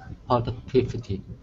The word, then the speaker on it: productivity: Productivity. Good. So it sounds like a D actually at the end. Productivity. Productivity. Productivity. Good. And this is the rule because the T is in between two vowels.